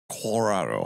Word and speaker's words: Colorado: Colorado.